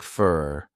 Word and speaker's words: for: for me notice that the word for sounds like fur this is because it's unstressed thanks fur thanks for